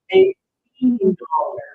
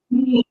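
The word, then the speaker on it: eighteen: You're going to go extra strong on the final syllable. $18. Let's hear 18.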